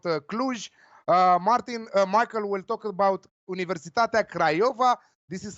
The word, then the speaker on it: Universitatea Craiova: Michael will talk about Universitatea Craiova. This is how it's pronounced, so be careful what you're saying.